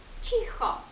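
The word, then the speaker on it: cicho: Але якщо ми додамо літеру і, то прочитаємо уже чі. Ч. Наприклад, чихо, тихо, чіхо.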